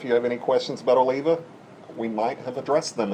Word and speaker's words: Oliva: now to be fair I was not saying Olivia I was saying Oliva Oliva yeah so I was still saying it right I was just at the wrong inflection of it should be Oliva instead of Oliva right so whatever it's